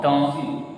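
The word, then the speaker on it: dans: don, This one. D-A-R-N. See, this preposition we use pronounce don.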